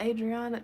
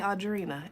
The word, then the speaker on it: Audrina: Oh, Adriana, child, that's say Audrina.